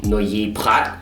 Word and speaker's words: Noilly Prat: We have Dulin and Noilly Prat, or French pronunciation, Noilly Prat.